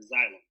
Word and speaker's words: xylem: Miss Trent, am I saying it right? Where's she at? Yes, it's xylem. Okay, cool. So I'm saying it right.